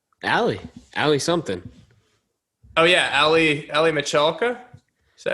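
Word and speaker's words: Aly Michalka: Oh yeah, Ali Michalka. Is that how you pronounce it?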